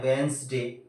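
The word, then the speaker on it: Wednesday: silent होगा इसके अलावा डब् ई डी एन एस डी ए वाई इसको बोलते हैं वेनसडे इसमें से साइलेंट कौन-कौन से लेटर हो रहे हैं यह डी साइलेंट है क्या अगर है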